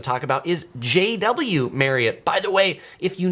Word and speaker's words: Marriott: some people pronounce it Marriott. It is not pronounced Marriott, actually. Um, Maria did a video recently saying it is pronounced just like marry, like you're going to marry somebody and it or you're going to carry it.